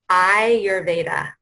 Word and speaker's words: Ayurveda: Yes, it's Ayurveda, and it's pronounced Ayurveda, like your eye. Okay. Ayurveda, okay.